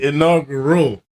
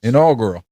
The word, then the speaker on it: inaugural: activity no you're saying inaugural how is this pronounced inaugural inaugural that's how you pronounce it no you it's got an l oh wait oh God